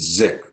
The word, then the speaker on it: Sick: Well, Sick is the name of our founder, Dr. Erwin Sick. In Germany, it would be pronounced Zick.